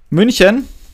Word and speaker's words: München: If you have some non-ASCII symbols, like for example in Germany we have the string München, so which is one large city in Germany.